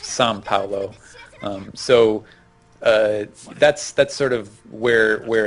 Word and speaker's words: São Paulo: a lot of times the OA sound is more like like it has that sort of tongue-ish nasal N sound.